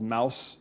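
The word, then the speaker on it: Maus: off the shelves two holocaust graphic novels called mouse one and mouse two i think that's how you pronounce it it's m-a-u-s these are graphic novels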